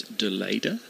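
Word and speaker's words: de Leede: bowling we have a reminder about pronunciation it's Dela Dela I think the Dutch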